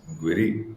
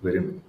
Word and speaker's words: Guirim: Apparently, the I am in most places Hmm. that the area names that end with I am is Hmm. like not pronounced. Oh, So interesting. it's Kandoli, not Kandolim. Oh, oh, wow. Okay. Yeah. And so similarly, it's Giri, not Guirim.